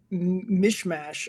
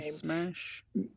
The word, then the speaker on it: Mismash: Mismash? It's M-I, it's literally miss and then mash. Mismash is how it's written. I don't know if that's how you actually pronounce it, but he's a minor league player.